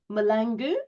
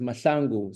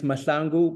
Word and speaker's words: Mahlangu: Back in my country, my name in South Africa is pronounced Mashangu. So, but we'll forgive you. So, say it again, please. Uh, it's masangu. But masangu, don't worry. In America, in America, they they say exactly what you just said, and it's okay. You forgiven here, but I've literally taken the order of the letters and made up my pronunciation.